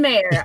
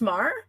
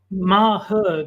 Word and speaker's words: Maher: it's pronounced ma it's it's sort of Mah her but it's like sort of compacted into a single syllable it's have to describe